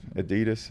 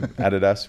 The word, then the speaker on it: Adidas: Adidas. I don't know what the pronunciation is out here. Adidas. We say it in Australia. It's a Adidas. Adidas.